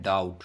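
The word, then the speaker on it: doubt: अब अगला है डाउट, डाउट में बी की साउंड नहीं आ रही तो बी साइलेंट है।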